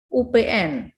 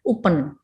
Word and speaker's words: UPN: Jadi jika singkatan dilafalkan per huruf, UPN, tidak mungkin Anda membacanya UPEN, UPN ya.